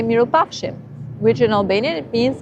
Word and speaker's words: mirupafshim: And if you're going to say goodbye and you're seeing someone again, you say mirupafshim, which in Albanian it means I hope that I will see you good.